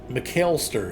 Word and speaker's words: McAlester: We've made it all the way to McAlester is how that's pronounced.